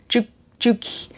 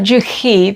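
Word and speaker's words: Juche: Juki. It's not Juhi. That would be a European language.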